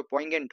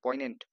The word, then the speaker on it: poignant: जोर मत दीजिएगा तो पोइगेंट हो गया, POINANT पोइनेंट, जी पे जोर नहीं देना है प्रोनाउंसिएशन पे, पोइनेंट, ठीक है, पोइनेंट नहीं पोइनेंट, एंड to tenderness the lovers experience hardships staying in cold uncomfortable places.